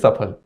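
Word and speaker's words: सफल: can't pronounce it correctly, and it's Safal. And somehow we feel very polished about saying Safal. And if somebody says Safal, I don't know. Some people look down upon them, that this must be a rustic man saying Safal. Can't say Safal. No, it is Safal.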